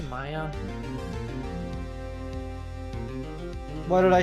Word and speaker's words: Maya: ] way no the the younger one's Maya the older one's Mia I thought you've been saying Mia as Maya no you definitely did that a few times maybe not the whole time but you definitely did no the the Elder sister's Mia the younger sister's Maya I know how to